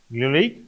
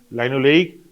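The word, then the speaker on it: linoleic: উচ্চারণটা এইভাবে করলে সুবিধা হয় মনে রাখতে। কীভাবে বললাম? লিনোলেইক। তুই যদি উচ্চারণটা অন্যভাবে করিস, কীভাবে করবি? লাইনোলেইক, লাইনোলেনিক। লেইক লেনিক এটা কানে না সমান শোনায়, সেম। সেই জন্য স্টার্টিংটাকে সায়েন্টিস্ট একটু অন্যভাবে বলে, লিনোলেইক, লাইনোলেনিক, সো দ্যাট ওই লেনিক পোর্শনটা সমান হলেও, কাছাকাছি সমচ্ছয়িত হলেও,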